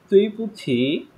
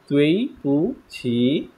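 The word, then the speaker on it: 对不起: তাহলে এখানে কি হবে প্রনাউন্সিয়েশনটা, তুই পুছি, আমার সাথে সাথে একটু পড়েন, তুই পুছি, সবাই একটু প্রোনাউন্স করেন, আনমিউট করে দেন, স্টুডেন্ট কম পাস,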